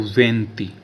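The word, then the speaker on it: venti: no way और 20 को बोला जाता है दोस्तों वती वती वी ई एन टी आई वंती य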